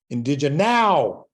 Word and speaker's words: IndigeNOW: I like the name it's a mashup of indigenous and now and now in this title is capitalized so when I talk